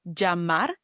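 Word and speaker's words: llamar: Number one, double L sounds with vowels J. For example, double L A sounds like jamar, which is the verb to call.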